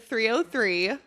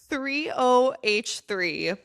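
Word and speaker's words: 3OH!3: So growing up, I thought the band 303 was actually pronounced 30H3.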